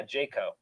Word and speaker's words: Jajko: Yeah, Jajko.